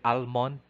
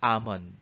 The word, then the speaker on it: almond: this word we say almond but it this is incorrect it should be amon because the phoneme l is silent item number 46 which